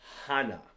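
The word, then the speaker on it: 하나: One is Hana, and it's pronounced like this, Hana.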